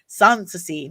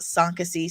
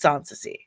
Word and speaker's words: Soncasie: use the dollar sign sansy s o n c a s i e sansy not sasy s Casey sansi or it's sansy those are all mispronunciations of my name I promise you I